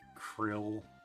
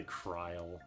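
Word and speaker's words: Krile: I used to pronounce krill like krill. Oh yeah, they say kryle.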